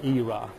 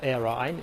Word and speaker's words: era: On my left there are lots of pictures here, and for example, impacts call it an era or era. As for me, I came across both pronunciation, era and era.